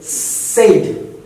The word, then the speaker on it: said: Like they would say said, but the word is actually, so let me write it down here, the wrong one. That would be wrong. Okay? The actual pronunciation is said, S-E-D, said.